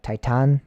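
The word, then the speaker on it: Titán: and it is a it's titan but it has an accent over the a so i think that in spanish you would pronounce that the a is like a an ah so it'd be like titan kind of um it'd be a little different pronunciation so yes this is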